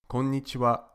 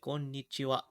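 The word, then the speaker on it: こんにちは: this evening that's why the ha at the end is pronounced wa because it's the topic particle how are you today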